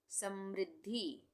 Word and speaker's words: समृद्धि: समृद्धि, म में री की मात्रा का प्रयोग हुआ है, और यहाँ पे आधा द है और ये पूरा ध है। ये यहाँ पे ध है, थोड़ा सा जुड़ गया है यहाँ पे। ये ध का उच्चारण पूरा हो रहा है, द का उच्चारण आधा हो रहा है।